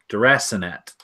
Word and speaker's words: deracinate: Deracinate. Deracinate? That's how it's pronounced.